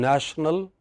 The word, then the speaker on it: national: First part of the word, first syllable, nation, but in national again the first part, it does not change.